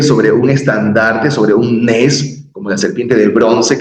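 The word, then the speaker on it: נס: La nun, la sameh, una vocal tsere, vocal larga tsere, nes, nes.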